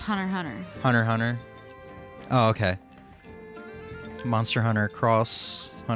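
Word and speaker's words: Hunter × Hunter: it's just pronounced Hunter Hunter.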